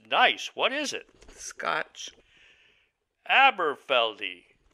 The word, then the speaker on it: Aberfeldy: that this is nice what is it scotch aberfeldy it's pronounced eberfeldi Highland single malt yes Highland it's not really